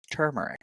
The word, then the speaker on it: turmeric: of your literature that I was I've been actually saying the word incorrectly that it is turmeric that there is an r in there in the front part